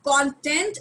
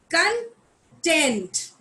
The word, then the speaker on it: content: that you read so content is the syllabus however when this word is pronounced as when the stress is on t e and t it becomes content so when i'm saying